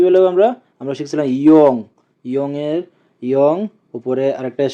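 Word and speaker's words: 이응: Young এর উচ্চারণ হবে অনুষ্কার অথবা উয়ের মতো।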